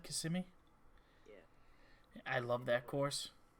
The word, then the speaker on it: Kissimmee: Is that how it's said, Kissimmee?